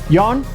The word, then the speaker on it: Jan: We didn't know how to pronounce his name. We had to look his name up, and it's spelled Jan, so we pronounced it Jan.